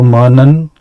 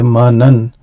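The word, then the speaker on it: مَنًّا: So Manan, now again Ism Maksur. Now this has a tanween. So and we said for the tanween that alif is written but is not pronunciated. So when I say manan, I am not saying mana.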